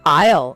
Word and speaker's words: aisle: Okay, aisle, an aisle.